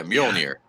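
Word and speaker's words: Mjölnir: near Mill near Tapscott just don't pronounce the J yeah yeah mule here there you go you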